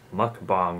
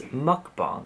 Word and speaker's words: mukbang: you guys have been some people are getting so upset that I'm pronouncing mukbong wrong Wow first world problems but I will try my best to remember it's mukbang so yeah today's going